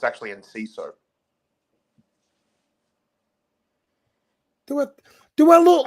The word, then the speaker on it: Enciso: Sorry, I'm just gonna relieve myself all over your bonfire because it's actually Enciso.